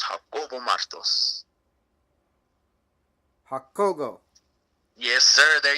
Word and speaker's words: Jacobo: quick I do apologize my name is Jacob in English but in Spanish it's hot so it's how oval Musto's Google yes sir